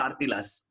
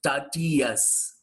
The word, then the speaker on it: tortillas: should not pronounce it he said it has to be pronounced tatias look at that he says it has to be pronounced tatias as if there is no um what is that l there and after as if it has to be only t-o-r-t-i-a-s so silent let us have a